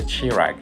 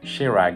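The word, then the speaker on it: Kjerag: shoes I tried are the chirag apologies for my Innovation pronunciation shirag is actually the name of a mountain in Norway close to where Kenyan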